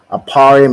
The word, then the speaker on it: Ephraim: see go ahead T aparium right aparium is how you say ephra in the Hebrew and it means I